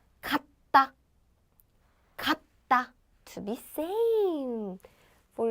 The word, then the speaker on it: 같다: So 갓. But I say 같아요 because 이응 comes after that, and that's called lentition, and 이응 comes.